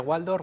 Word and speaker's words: Waldorf: ¿Se pronuncia Waldorf, Waldorf? Waldorf. Waldorf. Llamaremos Waldorf, sí. Waldorf a partir de ahora.